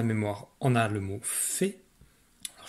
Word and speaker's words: fée: Donc, dans la mémoire, on a le mot fée. Alors, je te rappelle que le mot fée, il y a un E muet ici à la fin, parce que c'est un mot qui est féminin.